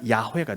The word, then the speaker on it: 야훼: 근데 그 발음을 히브리인들의 발음에 비슷하게 하면 야훼가 되죠. 여호와라는 단어는 한글로 번역할 때 쓴 말이고 그것을 히브리인들의 발음으로 발음을 하게 되면 야훼입니다. 그러니까 여호와 야훼는 같은 단어입니다.